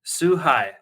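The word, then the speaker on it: 崇拝: And worship is suhai. Suhai is spelled Suhai.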